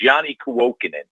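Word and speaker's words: Janne Kuokkanen: When you see a new guy coming, but it's Yanni Kuokkanen.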